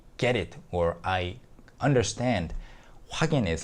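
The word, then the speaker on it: 확인: Hwak in hwak in, but the pronunciation is hwagin.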